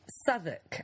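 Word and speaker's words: Southwark: in London all right it's called souk okay but it's spelled Sou South walk south walk I hate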